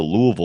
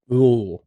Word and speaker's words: Louisville: I thought you said, yeah, you enunciated a little too much. Louisville. Louisville. It's got to sound like you have like peanut butter in your mouth. Louisville.